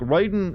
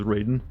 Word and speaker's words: Raiden: god but they have they pronounce it differently like writing i think is wrong i think they're supposed to be said as raiden but metal gear always chosen call him ryden for some reason pretty sure before he